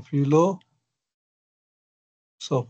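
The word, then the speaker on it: philos: No aquí digamos parece la p con la H junto se está pronunciando como la f no fi fi esa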